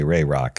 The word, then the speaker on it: RAROC: Craig what is rck rayrock first question is how do you pronounce it yeah In The Biz we say rayrock uh how do I